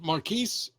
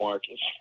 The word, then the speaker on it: Marquise: were raised in is it Marquise in North Carolina? Am I pronouncing that correctly? Yeah, you are pronouncing it correctly. Oddly enough, nobody ever gets it, so I just usually accept Marcus.